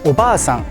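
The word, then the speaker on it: おばあさん: sound the same, where the only difference is that one has a longer vowel and the other one doesn't. Using the wrong pronunciation can change the meaning of a word entirely. So let's hear some examples. First, we have obasan, which means aunt, and obaasan, which means grandmother. Next up, we have ningyo, meaning mermaid.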